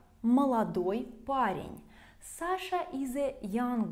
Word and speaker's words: молодой: Молодой becomes молод. Молод. Also notice that the stress will change. Молодой, of course, in the end, and молод on the first syllable.